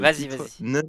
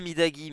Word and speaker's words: Midagi: juste avant de commencer je vais quand même tenter de prononcer cette chanson le naridagi pas que je l'ai bien prononcer quand même bra c'est midagi mais c'est pas loin c'est pas loin midagi c'est un peu comme